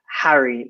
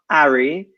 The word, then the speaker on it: Harry: So we pronounce it Harry, not Ari, but Harry.